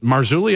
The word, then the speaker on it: Marzulli: Paranormal Radio Show, Len, is it Marzulli? Am I pronouncing that correctly? You're pronouncing it correctly.